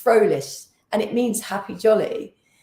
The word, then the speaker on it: Frolich: my my name is is in German it's frolish and it means happy